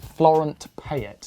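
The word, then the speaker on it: Florent Petit: out yeah he's great Florent pet is how you say it Floren P Florent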